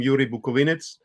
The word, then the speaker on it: Yuri Bukovynets: Yuri Bukovynets: You pronounce it very well. I'm Yuri Bukovynets and I'm living so in the Ukrainian Carpathians, in the very western part of Ukraine.